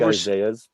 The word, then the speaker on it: Isaias: So it's like Isaiah It's like Isaias, but it's Okay, gotcha. Isaias. You pronounce Isaias. both eyes.